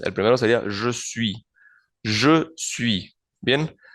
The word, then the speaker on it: je: Je suis. Bien, recordemos que la E francesa no suena como la E en español y se pronuncia entonces el pronombre je. Je.